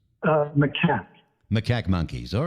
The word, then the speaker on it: macaque: Because there are different pronunciations. Macaque.